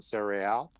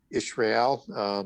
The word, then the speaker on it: Israel: And Sarah, in this application, as it's coming out of Hebrew, so the I would be silent, Sarael, Israel, as other people might want to pronounce it, but it means basically princes and rulers.